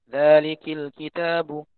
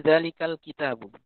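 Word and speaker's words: ذَٰلِكَ الْكِتَابُ: Dari zalikal kitabu menjadi zalikil kitabu. Itu orang tahu kalau itu salah. Ya, bahkan Anda pun mungkin tahu kalau itu salah, ya. Salah orang bacanya alif lam mim. Zalikil kitabu. Anda tahu itu salah itu. Itu bukan zalikil, tapi zalikal kitabu.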